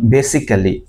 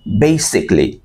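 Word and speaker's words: basically: বলতাম তাই না যেমন বেসিক্যালি আসলে এটা বেসিক্যালি না এটাকে বলতে হবে বেসিকলি অফ বেসিকলি বেসিকলি যেমন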